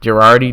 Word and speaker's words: Gerardi: Gerardi, did I say it wrong? No, you got it right.